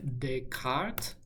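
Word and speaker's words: Descartes: Renee Deart. Lots of extra letters unpronounced in there, but that's what it is.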